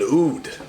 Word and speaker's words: oud: An oud, O-U-D.